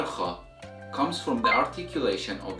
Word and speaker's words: خ: One last thing I would like to add here is that kha is a voiceless sound, which means you don't use your vocal cords to pronounce it.